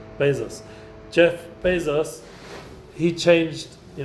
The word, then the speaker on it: Bezos: Boos no Jeff Bo how do we say his name Bezos Bezos Jeff Bezos he changed